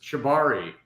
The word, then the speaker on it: cibáre: so uh your first of all I'm like pronouncing it right shivari you got it that time John yes it's Shibari Shibari that's what I was thinking because the